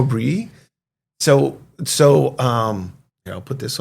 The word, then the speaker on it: Brouilly: I thought it was Brouilly. Yeah. No, Brouilly.